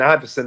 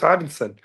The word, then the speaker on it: Ivinson: They kept saying Iverson or Ivolson or what. I'm like, no, it's Ivinson, and they just kept saying it wrong in my head.